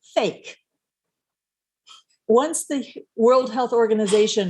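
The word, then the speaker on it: PHEIC: Fulmick said earlier, the acronym for that is pronounced fake.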